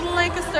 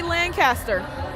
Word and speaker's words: Lancaster: It's pronounced Lancaster out of Texas, but some say Lancaster if you're not in Texas.